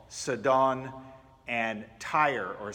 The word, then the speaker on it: Tyre: We find him in a place called Sidon and Tyre, or Sour, depending on how you pronounce it.